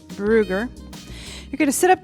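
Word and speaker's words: Brügger: This one that I'm about to show you is called a Brugger stretch, Brugger, but with the U, it has those little dots on top, so I think it's pronounced Brugger.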